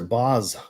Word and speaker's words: Boss: Boss Bottled Elixir, Boz Bottled Elixir is the right way to say it when you're involved, sir.